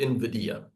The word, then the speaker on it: Nvidia: you say it there people kind of get the get the pronunciation a bit wrong but it's called Invidia um so chips Nvidia is